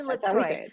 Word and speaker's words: LaCroix: is that how you say it okay Molly lroy I've never said it out loud or heard